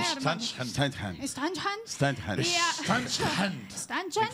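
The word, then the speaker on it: Ständchen: E ela chama-se Standhahn. Como é, Standhahn. Standhahn. Standhahn. Standhahn. Standhahn. Standhahn. Cada um fala. A minha pronúncia é um pouco mais americanizada, que é Standhahn. Mas Standhahn, em alemão, Standhahn, enfim.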